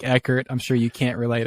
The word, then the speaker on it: Eckert: It gets mispronounced all the time, but with a last name like Eckert, I'm sure you can't relate at all. Dude, like, you'd be surprised how many people say Eckhart.